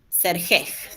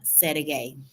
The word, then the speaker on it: Sergej: manera terminando con J, Sergej sería en español, lo diríamos así. Bueno, no se lee así, se escribe así, pero se pronuncia Sergei.